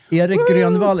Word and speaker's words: Erik Grönwall: Erik Grönwall is the way you pronounce it in Swedish.